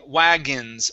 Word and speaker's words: wagons: Let's go to the word wagons. Okay, so the O-N is actually pronounced like a short I and an N. Okay, wagons, wagons.